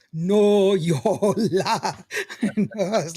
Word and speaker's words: Noyola: You No, can say no, Yola. I had to break it down for Lawrence. I said, let's go syllable by syllable.